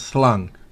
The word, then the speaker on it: slung: Recuerden, esa G no se pronuncia destacadamente. Es apenas slung.